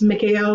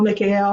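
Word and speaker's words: מיכאל: be familiar with it it's Mikhail Mikhail McHale which is a Hebrew pronunciation for Archangel Michael's name um which is invoking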